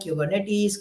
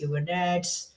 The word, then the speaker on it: Kubernetes: All three options are correct. You can pronounce it however you like. Kubernetes, Kubernetes, anything that you like.